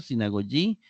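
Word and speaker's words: συναγωγή: Luego tenemos la otra, sinagogi, que sería si, na, go, yi, es decir, se acentúa en la última sílaba.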